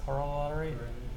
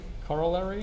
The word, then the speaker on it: corollary: uh uh Coral colorer how do I pronounce this consquences corollary cor say it again cor corollary yeah you know you know